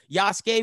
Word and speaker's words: Yasuke: yasuke uh sasuke yasuke i always got to do it that way because that's how his name is pronounced yasuke we're reviewing that um